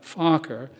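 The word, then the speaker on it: Fokker: aviation prodigy baron anthony focker you wanted to pronounce that for me it's f-o-k-k-e-r focker is cancelled when focker dies during minor surgery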